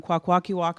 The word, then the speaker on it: Kwakwaka'wakw: I'm Kwakwaka'wakw from Northern Vancouver Island.